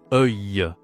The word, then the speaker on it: œil: Attention, la prononciation est pas facile hein. C'est e œil.